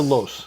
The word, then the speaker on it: loess: So this Lus, is it Lus or Los? I think it's Lus. Lus, okay. Yeah. And it's spelled Loess. Correct. Lus. Yeah, Lus. Yeah.